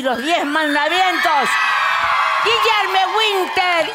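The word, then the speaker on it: Guilherme: Cómo se dice tu nombre en portugués Guillermo guillerme guillerme Ah guillerme fácil guillerme Yo decía a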